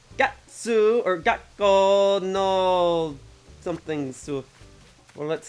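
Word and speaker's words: 学校: natsu ginkgo and gakko the pause is important it's not gakko it's gakko you gotta pronounce things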